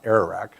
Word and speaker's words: Ararat: The Great Flood happened, and the Ark landed on Mount Ararat. Did I say it right, Rich? Ararat, yeah, okay, thanks.